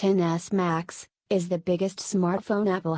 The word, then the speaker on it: XS Max: the iPhone XS max pronounced NS max is the biggest smartphone Apple has ever made